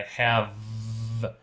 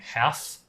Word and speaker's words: have: You're kind of saying "haf", like an "f". We need "v".